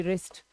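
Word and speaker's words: wrist: लिखा जाता है तो डब्ल्यू आर आई एस टी W silent है बट यहां पर है और इसे हम पढ़ते हैं रिस्ट 401 लाइक हो चुके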